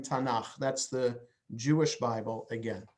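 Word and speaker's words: תנ״ך: to as tanach so the three letters there is an abbreviation uh pronounced tanaf and so when you say bible in hebrew you're saying tanach that's the jewish bible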